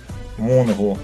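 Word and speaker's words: мөнгө: А на реверсе у нас крупной цифрой 5 изображен номинал, ниже надпись «Мунгу», хотя пишется «Менга», но произносится «Мунгу».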